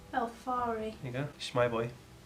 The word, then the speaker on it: Ylthari: Ylthari. Say it with me. Ylthari. It's Welsh. So the Y is pronounced like an E. Ylthari.